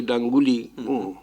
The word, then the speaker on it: Danguli: When as a child, I used to play Danguli, which rhymes with my title Ganguli.